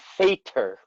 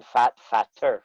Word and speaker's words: fatter: So we don't want to change the pronunciation, fat, fatter, so we add another T Yeah, yeah. to keep, otherwise it would be fater, Fater. which isn't what we're looking for.